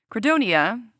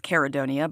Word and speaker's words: Credonia: Kredonia, which I've also heard as Kerodonia, but it's spelled Credonia, so I'm going to say that, was said to have grown